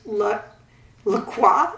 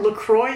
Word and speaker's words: LaCroix: I like 2 brands, LaCroix, I think it's spelled, or LaCroix if you're American, L-A and then C-R-O-I-X.